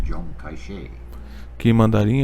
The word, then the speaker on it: Chiang Kai-shek: whose name in the Mandarin dialect is pronounced Zhong Kai-shek.